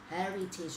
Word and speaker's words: heritage: Nãy giờ tới trời đọc là heritage, nó có cái lý do của nó, là cái này cái âm y ở cuối, tige, chứ không phải là tage, alright.